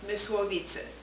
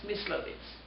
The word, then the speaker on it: Mysłowice: born on July 1930, in the city of, in Polish it would be pronounced Mysłowice. In German it's Myslowice.